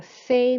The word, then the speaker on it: fais: Okay, to say I go cycling, it's je fais du vélo. So you'll notice that we don't pronounce the S, but we pronounce the last vowel sound, which is an A sound, je fais.